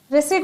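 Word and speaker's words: receipt: इसे साइलेंट को रिसिट बोला जाएगा।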